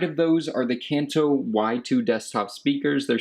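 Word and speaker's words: YU2: to the right of those are the kanto y2 desktop speakers they're spelled like youtube but they're pronounced y2 these are really good desktop speakers they're not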